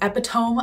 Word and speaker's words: epitome: I just watched a video where a girl said that a woman is the epitome of something, and her friend was like, hey, it's epitome.